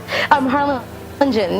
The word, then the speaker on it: Harlingen: I have to ask you, what was it like growing up in Harlingen? Is it Harlingen? Harlingen. You could just pronounce, the G is Jen, so Harlingen.